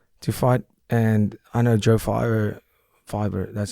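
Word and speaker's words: Joe Pyfer: And I know Joe Fiver, that's how you say his name, right?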